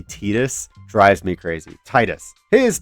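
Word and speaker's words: Tidus: I'm going to say Titus. I know that the actual pronunciation is supposed to be Tetus.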